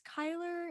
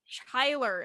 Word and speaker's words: Chyler: But you saying you thought her name was Chyla? Yeah. Somebody literally said, me too. I thought it was Chyler. And I literally was sitting there for the entire season 1 going, wow, Chyler did really good. That is so embarrassing.